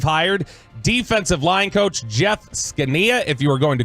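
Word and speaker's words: Zgonina: defensive line coach Jeff skania if you were going to Google that good luck because it is not the way that it is phonetically pronounced skania z g o n i n a if that name sounds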